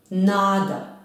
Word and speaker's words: Nada: Nada je stigla na stanicu. Nada je stigla na stanicu. Koje reči su naglašene? Nada. Akcenat je na prvom slogu.